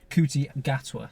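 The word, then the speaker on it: Ncuti Gatwa: How do you pronounce his name again? Kuti Gatwa.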